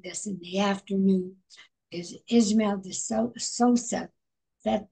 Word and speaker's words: Ismael: we are doing this in the afternoon is Ismael Sosa that pronounced right we got it beautifully oh thank